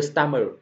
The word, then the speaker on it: stomach: The stomach, đó là dạ dày, chúng ta không đọc là stomach như nhiều bạn đọc nhé. Stomach, âm c là âm cuối, ch đọc ra là âm c.